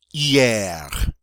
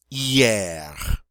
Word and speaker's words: hier: Hier. Hier. H is silent, and hier means yesterday.